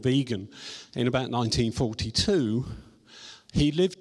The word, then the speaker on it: vegan: and invented the word vegan I need his pronounced vegan not whatever other kind of pronunciation other people